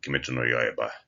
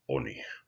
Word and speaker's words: 鬼: The native Japanese is oni.